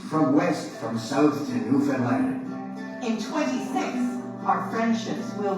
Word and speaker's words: Newfoundland: From east, from west, from south to Newfoundland. In 26, our friendships will renew. But don't forget, It rhymes with understand.